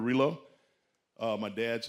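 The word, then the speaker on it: Rillieux: Norbert uh I think that name is pronounced Rio. Norbert Relo.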